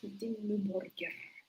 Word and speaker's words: Dimmu Borgir: Yes, Dimmu Borgir. That's how they pronounce it.